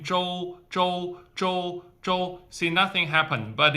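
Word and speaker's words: 周: For example, for the Joe, a lot of English speakers tend to say cho because cho cho is much easier to pronounce as a English uh syllable, but it's not cho, it's Joe.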